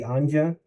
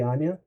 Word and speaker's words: Anja: Like Anya is written with a J, but you don't say Anja, you say Anya.